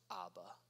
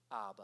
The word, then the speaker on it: Abba: ministry and it was this Aramaic word for father that's pronounced Abba Abba and the thing that's